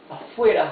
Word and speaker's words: afuera: Afuera, however, has only one R. So it's afuera, not afuera.